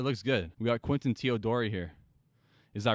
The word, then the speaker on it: Teodori: We got Quinton Teodori here. Is that right? That's right. You pronounced my last name right.